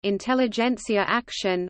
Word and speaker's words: Intelligenzaktion: Intelligenzaktion German pronunciation, Intelligenz, S, Akt, Sjon, Intelligenzaktion was a secret mass murder conducted by Nazi